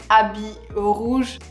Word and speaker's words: Habit Rouge: So the first one I want to pronounce is Habit Rouge.